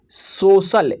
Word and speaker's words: social: यहाँ पे देखिए यदि C के आगे IA हो तो C का उच्चारण स होता है।